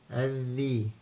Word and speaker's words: الذئب: الذره كانت ذره الثالث الذئب الذئب الذئب الذئب يبقى هنا اللام ما بنسمعش صوتها ونبدا الحرف الدال مرتين